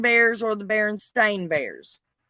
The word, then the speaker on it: Berenstain: berenstein bears or the berenstain bears we all grew up knowing that it was berenstein spelt with an e-i-n yes now now they're saying no that's not true it's baron stain spelled a-i-n right um ed mcmahon